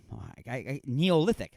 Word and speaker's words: Neolithic: gum have existed since the Natha neolithic there that's how you say it I almost said nothing logic doesn't right the Neolithic